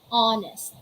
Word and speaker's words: honest: your vocal cords so let's say hour ah hour honest off honest honor oh honor a